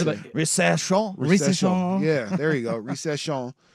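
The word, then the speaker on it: Risacher: Zachary Risachet? That sounds about- Risachet? Recession.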